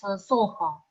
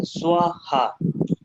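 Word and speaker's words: स्वाहा: At the end of the mantras you pronounce Soha, but actually other people...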